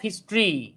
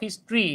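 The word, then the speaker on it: history: দেখেন, the reading of হিস্ট্রি, the reading of হিস্ট্রি, এই যে টরিগুলোর উচ্চারণ হয় ট্রি। হ্যাঁ, টরিগুলোর উচ্চারণ হয় ট্রি। যেমন আমরা বলি ইন্ট্রোডাক্টরি, এটা হচ্ছে ইন্ট্রোডাক্টরি। হ্যাঁ, হিস্টোরি বলি, এটা হচ্ছে হিস্ট্রি।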